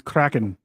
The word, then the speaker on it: Kraken: I'm telling you, it's Kraken. It's an R roll. Yes. Kraken. It's a strong R roll. R roll. Takes a lot of practice to roll your R's like that.